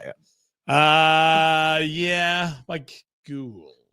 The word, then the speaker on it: Gould: alongside our boy mik go I don't think that's how you say it that's exactly how I said it it's how you say it uh yeah Mike ghou rhymes with cool rhymes with cool Mike cool is here